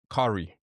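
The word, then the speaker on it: Cari: Curry. I don't know if you've heard of Curry. Curry is amazing. Spell that.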